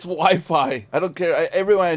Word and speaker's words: Wi-Fi: morning the reporter corrected the guy and said we fee sir it's Wi-Fi I don't care everyone I know and friendly